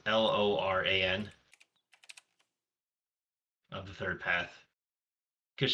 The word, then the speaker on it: Loran: There's another new card that I saw, Lorraine of the Third Path. Hmm. It's just like one How of do you the new spell it? cards. It's Loran of the Third Path.